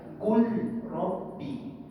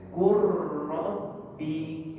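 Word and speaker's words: قُلْ رَبِّ: Qul rabbi. Kalau baca qul rabbi, masuk syaddah ni tidak berfungsi. Maka idgham bermaksud memasukkan qurrabbi. Sama-sama sekali dah tuan-tuan. Rabbi. Itu cara bacaan yang sebenarnya.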